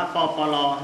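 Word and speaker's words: ป.ป.ร.: ปรมาภิไธย ไว้ นะ ครับ อ่าน ว่า ปอ ปอ รอ นะ ครับ จะ ลึก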